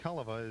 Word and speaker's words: Cholewa: It's a Yeah, silent that's a tough C. one to pronounce. It's spelled. We'll spell that for you after Shepard's first pitch. Pitch comes in high. Mike Hullewa is spelled Cholewa.